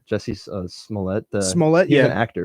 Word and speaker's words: Smollett: Jesse Smollett.